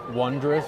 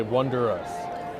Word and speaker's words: wondrous: do like the new wondrous Journeys my gripe with it is that they pronounce wondrous wrong every single time there's an added syllable they say wonderous it's wondrous well you mean they change